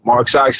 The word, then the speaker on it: MRK SX: Like, all right, Mark Socks it is. You know what I'm saying? And I shortened it, took the A out, just said MRK. Yeah. And you can pronounce it phonetically.